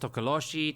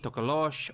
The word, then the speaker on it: tokoloshe: that are listening um it's pronounced tokoloshi tokoloshe or mo locally as a tokolosi if i could just